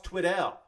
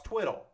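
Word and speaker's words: Tweddell: It's not Ross Twiddell. It's Ross Twiddle.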